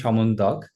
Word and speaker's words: Syamantak: My name is Syamantak, and even people back in my hometown mispronounce it.